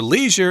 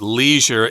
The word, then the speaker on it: leisure: to check it out I should also mention that Leisure is the American pronunciation in England you'll often hear Leisure yeah you could also